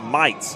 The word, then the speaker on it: Mites: Patrick says it's Mites. Okay, excellent. I appreciate it. I don't want to say his name incorrectly. He's played very well so far. Brady Mites.